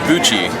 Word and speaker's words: Buchi: who is representing is it how is it pronounced? It's called Buchi.